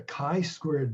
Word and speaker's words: chi-squared: examples of that shortly and very finally the chi squared value is actually a dimensionless number it has